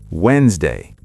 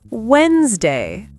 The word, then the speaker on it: Wednesday: No, the D is silent. The first E is silent. It's pronounced Wednesday. Wednesday.